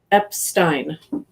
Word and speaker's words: Epstein: i butchered your last name how do you pronounce your last name epstein epstein you didn't really it wasn't that bad